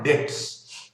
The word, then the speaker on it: debts: तो liabilities are obligations और डेट्स, B silent है, ठीक है, DEBT, बी